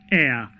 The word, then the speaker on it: heir: is silent silence so it is pronounced as air so it begins with a vowel sound even though the first